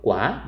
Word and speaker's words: qua: 과, 싹 해서 과, 맵과, 싱과, ngon과 할 때 거기는 A, 그 UA가 왔는데 아라고 발음이 나는데요.